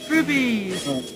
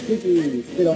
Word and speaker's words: rupees: There's no B in there. Yeah, R-U-P. R-U-P-E-E. Rupees. Not rupees.